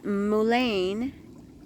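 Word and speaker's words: mullein: because I started taking Mulan or Mullen or I'm not sure how you pronounce it I've heard it pronounced so many different ways but it's mulain and it's a uh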